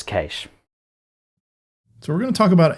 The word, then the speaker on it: cache: in a sound so the proper pronunciation is cache sorry Scott its cash so we're gonna talk